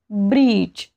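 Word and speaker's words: bridge: असतो याचे एक्झाम्पल्स बघा ब्रिज ब्रिज स्पेलिंग काय आहे बी आर आय डी जी ई पण आपण इथे डी चा उच्चार करत नाही ब्रिज म्हणतो बरोबर तसंच बजेट इथे सुद्धा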